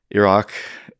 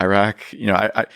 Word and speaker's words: Iraq: Iraq, Mhm. Iraq. I think there's come to be a fit between certain ways of pronouncing these places and the position that Americans take about them, right?